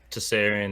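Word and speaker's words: Tsarion: that name yeah it's uh it's michael okay tessarian is t-s-a-r-i-o-n yeah so what does he produce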